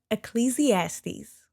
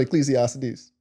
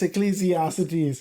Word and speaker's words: Ecclesiastes: It is Ecclesiastes. It's not Ecclesiastes. There's no cities. It's Ecclesiastes.